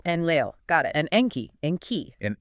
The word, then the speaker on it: Enlil: And Enlil, pronounced Enlil. Enlil, got it.